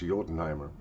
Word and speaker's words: Jotunheimer: my German friends uh this is pronounced I believe this you know the the uh land of the ice giants yotenheimer and this is yet